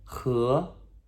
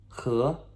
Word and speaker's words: 和: 和, okay? H-E with a second tone, okay? Ascending, questionable. What? 和, okay?